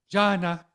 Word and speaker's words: Jana: You're like, Jana. I have thought about having somewhere on my website, like click to hear the pronunciation, like my name, like highlighted.